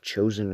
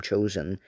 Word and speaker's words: Chosin: The name Chosin is derived from the Japanese pronunciation Choshing instead of the Korean pronunciation.